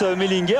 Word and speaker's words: Mellinger: Ici on prononce Mellinger, en fait c'est un Français, Mélinger, donc on peut l'appeler Mélinger, on peut varier.